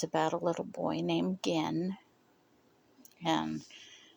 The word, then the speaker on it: Gen: Uh, it's about a little boy named Gen and his name is Japanese, so it's spelled G N and it's a hard G.